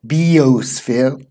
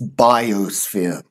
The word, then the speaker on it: biosphere: live within the biosphere notice the pronunciation it's not bo sphere it's biosphere Germania kleptomania so is